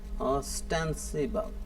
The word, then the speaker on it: ostensible: ठीक है, तो ऑस्टेंसिबल जो है, ऑस्टेंसिबल, इसकी प्रोनाउंसिएशन देख लें, AH और स्टेंसिबल। स्टैंड जो है इस पे आपने जोर देना है, ऑस्टेंसिबल।